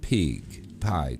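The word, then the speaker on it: Pyg: It's Kalos Pig. P-Y-G. How would you say that? Pige?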